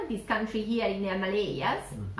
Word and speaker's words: Himalaya: Then we have Bhutan, this country here in the Himalayas. Mm-hmm. Himalayas, how do you pronounce?